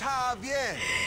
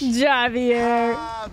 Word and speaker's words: Javier: don't get it it's Javier it's pronounced like an H Javier girl come on what